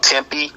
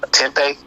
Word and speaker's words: tempeh: i think it's called tempe tempeh i really pronounce it tempi or tempeh um and what else